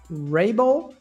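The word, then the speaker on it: Raible: your surname but I believe it would be pronounced Rabel is that it that's correct awesome awesome got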